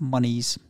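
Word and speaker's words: Muniz: And just for the record, James, his name's pronounced Monies.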